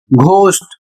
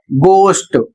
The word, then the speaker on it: ghost: इसे अक्सर लोग पढ़ते हैं घोस्ट, जबकि इसका सही उच्चारण होगा गोस्ट, और इसकी हिंदी होती है भूत।